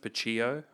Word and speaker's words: Pucillo: I thought you were Pucillo for a long time. Yeah, I get that. Some people chuck a Spanish twist, Pucillo.